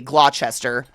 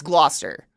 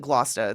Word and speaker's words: Gloucester: family with accents like for me it's GL I mean realistically Glouchester but it's Gloucester but when I say it I feel like I need to say it like my aunts like GLA that's how they say it I don't know